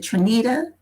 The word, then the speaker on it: Tanita: brooks um i met um is it trinita is that how you pronounce it yes i met you before at